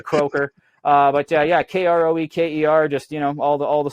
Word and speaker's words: Kroeker: If you're a Mennonite, it's pronounced Kroeker. The Mennonite side of our family kicked us out, though. We're not allowed to talk to them anymore, so we go by Kroeker.